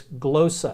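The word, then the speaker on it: γλῶσσα: just those are all the letters but it's glow so and it means tongue so when in Corinth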